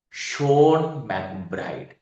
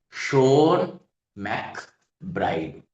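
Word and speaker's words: Seán MacBride: But we actually pronounced his name Sha McBride. Sha Macbride.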